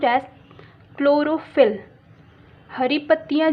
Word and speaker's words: chlorophyll: It is pronounced as chlorophyll.